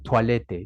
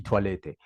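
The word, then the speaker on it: Toilette: palabra como tal pero ellos la pronuncian toalete di toalete Vale entonces pues Bueno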